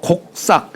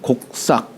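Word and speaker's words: 告朔: 요런 때는 고라고 읽지 않고 곡이라고 읽어요. 곡이라고 출고 반필면 고라는 것도 이게 이게이 이게 소우자에다 입구자 썼죠. 예. 자, 그러니까 요거 곡싹. 여기는 곡싹이라고 해. 곡싹.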